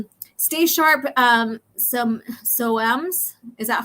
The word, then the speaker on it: Soames: You don't pronounce the E. Okay, like foam because you don't really have to say.